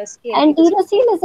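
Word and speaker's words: enterocele: अच्छा, that we don't call एंटीरोसील, it's called एंटेरोसील। एंटेरिक, एंटेरिक is related to gut, right?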